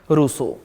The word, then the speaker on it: Rousseau: एक और स्कॉलर जो मुझे ठीक लगते हैं वो हैं रूसो। रूस लिख के रूसो बना दो, लेकिन इंग्लिश बहुत खतरनाक है इनका।